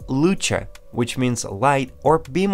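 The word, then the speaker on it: Luce: Mazda 929 which was originally based on Mazda loose let's start with an interesting confusion in pronunciation and language origins of the model name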